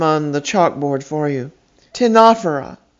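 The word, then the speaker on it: Ctenophora: a r i a you will notice that they each began with a silent letter c why you'll have to ask the ancient greeks charles moya tell us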